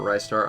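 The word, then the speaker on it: Ristar: next we have restar some people call it rystar i pronounce restar the shooting starfish i'm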